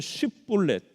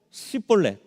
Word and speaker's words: 쉽볼렛: 오늘 이 에브라임 지파가 못하는 발음이 하나 있는데 그것은 쉽볼렛, 이 쉬라는 발음을 잘 못했던 것 같습니다. 그래서 에브라임 사람인지 아닌지 확인을 하려면 쉽볼렛이라고 해보면 이 사람들이 쉽볼렛을 못하고 시볼렛 이럽니다.